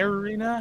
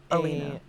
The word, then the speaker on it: Alina: Arena? How do we spell that? Alina. It's Alina.